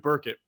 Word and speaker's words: Burkett: apricot yeah i know i always say berkey because of the picture i know well it looks like it spelled like that i i got it wrong for years until he corrected us but anyway right who's